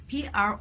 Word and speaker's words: prophecy: P-R-O-P-H-E-C-Y is pronounced as prophecy, and P-R-O-P-H-E-S-Y is pronounced as prophesy.